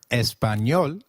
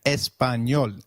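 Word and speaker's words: español: how to pronounce it the letter A is pronounced as ah as in father did you notice the letter enya in espanol this letter is peculiar in Spanish it is pronounced as me like in Canyon so can you try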